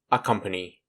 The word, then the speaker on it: accompany: Accompany is another word where both C's are making the hard C sound. An easy way to learn this word is to see the word company in it. So, the way you spell it is the AC for ac, followed by company. So, A-C-C-O-M-P-A-N-Y spells accompany.